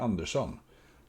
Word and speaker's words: Andersson: Maria Andersson, as we would pronounce it in Swedish.